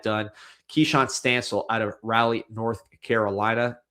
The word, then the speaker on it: Raleigh: Keshan Stancil out of Raleigh, North Carolina. Raleigh.